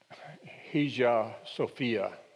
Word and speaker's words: Hagia Sophia: I looked up the pronunciation of that. It's Hagia Sophia. It seemed to be the most common way it was pronounced.